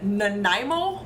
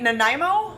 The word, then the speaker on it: Nanaimo: Nanaimo bar? I wanted to call it a Nanaimo, and then I went and looked it up, and it's Nanaimo, I think.